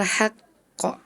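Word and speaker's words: الحق: Dzalikal yaumul haqq. Harusnya bacanya ditahan dulu. Terus qafnya dipantulin ya. Tadi Ananda Farel bacanya dzalikal yaumul haqq. Enggak ada pantulannya ya.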